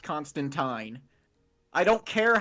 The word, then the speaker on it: Constantine: Yes, it is pronounced Constantine. I don't care how the movies say it. There are literal comics where he says his name rhymes with turpentine.